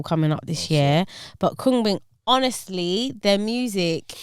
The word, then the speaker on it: Khruangbin: They're a band from Texas called Krungbin.